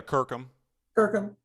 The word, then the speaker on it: Kirkham: So now, Kirkham, am I pronouncing that right? Yeah, Kirkham.